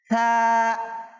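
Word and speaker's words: ثا: এটা পড়ার সময় আমরা জিহ্বার আগা দাঁতের আগায় লাগিয়ে দিলেই আমাদের ছা সঠিক উচ্চারণ চলে আসবে ইনশাল্লাহ সহজেই আর যদি আমরা জিহ্বাটা ভিতরে রেখে দিই তাহলে ছা সঠিক উচ্চারণ আসবে না এজন্য আমাদেরকে কি করতে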